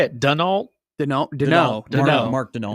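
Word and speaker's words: Daigneault: Denault.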